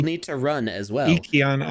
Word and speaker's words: Ykion: Yikion Art is what they said to me. Or yeah, they said that's how you pronounce it yesterday.